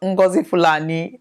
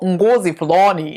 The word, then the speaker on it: Ngozi Fulani: to be talking about ngozi Fulani no it's not ngozi Palani no that's not the pronunciation it is now if